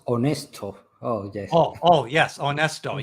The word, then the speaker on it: Onesto: Oh, it is pronounced Honesto.